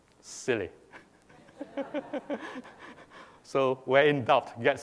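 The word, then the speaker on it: SIYLI: inside yourself Leadership Institute and is pronounced as silly so where in doubt get silly silly.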